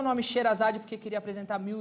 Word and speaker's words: Sheherazade: S-H-E-H-E novamente, R-A-Z-A-D-E. Ah, tem um H, tem um Sherazade. É, só que o H-E seguinte é mudo.